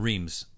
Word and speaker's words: Reims: Palais was like a champagne bar and and Reims oh yeah oh it's pronounced lean I was outside of champagne or